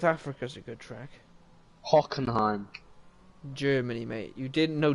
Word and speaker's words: Hockenheim: it huh supposed to even know how to pronounce it well hockenheim yeah like that that's how you pronounce it